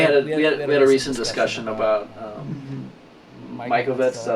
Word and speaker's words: Mikovits: I know we had a recent discussion about Mikovits.